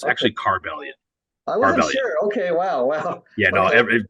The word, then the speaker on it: Carbellion: one actually here's the trick right yeah the pronunciation of the band has always been tricky people so it's actually car Valiant okay wow wow yeah no we've heard a